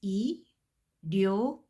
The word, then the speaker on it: 일요일: Last word, 일요일, 이, and then did you notice that this final consonant l spills over and pronounced right here? So I'm going to pronounce it as 일요일, 일요일, Sunday, 일요일.